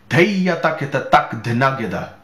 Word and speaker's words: Dheya Takheta Tak Dhena Geda: Dheya Takheta Tak Dhena Geda. Now, I'm going to say it slowly so you can catch all of the syllables.